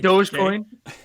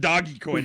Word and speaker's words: Dogecoin: Dogecoin. It's not Doggy Coin. It's Dogecoin.